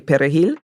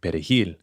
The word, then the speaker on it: perejil: they pronounced the word perejil, the Spanish word for parsley. Because Haitians, in Creole, we use a guttural R, and Latinos roll their R.